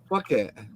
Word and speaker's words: Phuket: If you say that properly, fuck it. It is, though, isn't it? PH is F, isn't it?